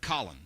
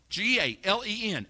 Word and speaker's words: Galen: They pronounce it Colin. Galen.